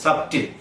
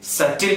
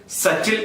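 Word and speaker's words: subtle: ബി വരുമ്പോൾ എല്ലാവരും അതിനെ ഉച്ചരിച്ചാണ് പറയാറുള്ളത്, സബ്റ്റിൽ. പക്ഷെ അത് സബ്റ്റിൽ അല്ല, മറിച്ച് സറ്റിൽ എന്നാണ് ഉച്ചരിക്കേണ്ടത്. എങ്ങനെയാണ് ഉച്ചരിക്കേണ്ടത്? സറ്റിൽ എന്നാണ് ഉച്ചരിക്കേണ്ടത്.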